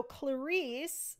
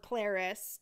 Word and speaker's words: Clarice: So Clarice, or Clarice, depending on if you want to pronounce it the British way, Clarice is the narrator's lady's maid.